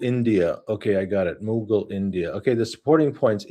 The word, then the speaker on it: Mughal: Which of these or any other word would you like me to help you pronounce? Mughal India. Okay, I got it. Mughal India.